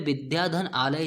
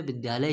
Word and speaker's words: विद्यालय: विद्यालय में कहूं यार मैं की मैं विद्या धन आले जा रहा हूं ऐसा नहीं का सकते हम ये उच्चारण के दृष्टि से गलत होगा मैं कहूंगा की मैं विद्यालय जा रहा हूं मतलब की इसको हम लोग अलग-अलग इसका उच्चारण नहीं कर सकते हैं उसका उच्चारण हमें क्या करना होता है एक ही में करना होता है की हम इनको